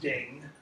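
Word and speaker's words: 鼎: And it's pronounced Ding, whereas this character over here, when it's used this way, is pronounced Jun. They don't sound alike in modern Chinese. In fact, in ancient Chinese, they sound very much alike. Both of them sound something like Tiang.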